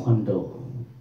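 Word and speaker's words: Cuando: Thì nó đọc là như chữ quan, cho nên là mình đọc là Quando.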